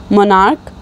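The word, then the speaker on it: monarch: For example मोनार्क मोनार्क्स हो जाएगा, उसकी भी प्रोनंसिएशन क के एंड होता है और वैसे उसके स्पेलिंग्स में सी एच होता है।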